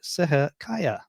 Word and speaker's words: Seher Kaya: It's the R. I can't do the R.